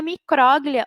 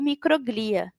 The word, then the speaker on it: micróglia: Uma das células da glia é o oligodendrócito, o astrócito e a micróglia ou microglia. As duas formas estão corretas de pronunciar essa palavra.